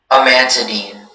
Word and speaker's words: amantadine: Your word is amantadine. Can you repeat the word again? Amantadine.